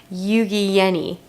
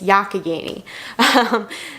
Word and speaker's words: Youghiogheny: That was from Youghiogheny yarns. I learned how to pronounce it correctly. It is not Youghiogheny, it's Youghiogheny. So yeah, other than that, not much else happened today.